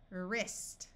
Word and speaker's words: wrist: this should be WR WR at the start of a root the W will be silent so this sound is r ER wrist wrist wreck we can